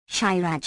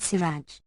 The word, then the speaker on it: shiraj: Shiraj equals oil extracted from rapeseed, but especially from sesame. The Persians pronounce it siraj, apparently unaware that it is their own word.